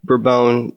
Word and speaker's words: Bourbon: true but if with for instance with a burbone variety which is spelled bourbon but pronounced for bone bror bone tastes like brobone no matter where it's grown